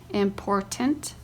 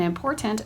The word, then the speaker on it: important: as colony, botany, remember, important, recollect, represent. In the words colony and botany, the first syllable is accented. In the words remember and important, the second syllable is accented.